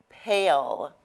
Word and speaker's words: pale: that word pal and now we have a new word pale okay so here we have a silent e okay this is our magic letter e all right and the magic letter e kind of gives permission for our short vowel sound to now say its name right so when it